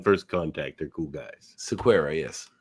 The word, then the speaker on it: Sequeira: Sequeira, yes.